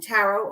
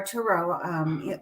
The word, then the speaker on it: tarot: And I have the tarot, but I reserve the tarot or tarot. Either way is appropriate to pronounce it.